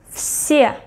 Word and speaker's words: все: Все, все, все. Can you hear? I pronounce it as F, все.